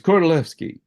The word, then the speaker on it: Kordylewski: It's spelled with a K, and it looks like Kordylewski, but the Poles pronounce a W like a V, as in, for instance, saying the name of the composer Wagner. You say Wagner, not Wagner. And so he's Kordylewski. And these clouds came to